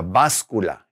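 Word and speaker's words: báscula: right that is called la bas Kula with that accent on the a la bas Kula is the scales okay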